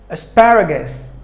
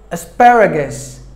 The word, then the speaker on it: asparagus: started word number one asparagus asparagus spy right guess there are four syllables in this word but the second syllable gets the stress so you have to stress pad as bad gas asparagus asparagus we're number two